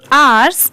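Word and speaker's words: hours: बट यहां पर एस लग गया तो आर्स और एक चीज और इसमें ये जो एच लेटर है ये साइलेंट है इसलिए हम सिर्फ इसे आर पढ़ रहे हैं क्योंकि ओ यू आर की साउंड आ रही है ओके ये है ऑन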